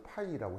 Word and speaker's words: psi: 그래서 이제 읽을 때 발음이 어 PSI 그래서 이제 풋사이 이렇게 읽으시면 되거든요. 그래서 이제 풋사 이렇게 읽어도 되고 S를 묵음처럼 해가서 파이라고 해도 되고 뭐 미하튼 그리스 알파벳이라 표기 방법은 저러합니다.